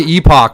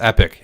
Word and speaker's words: epoch: other options of it i say epoch but i think charles says epic and i i trust his pronunciation of it more everyone says epic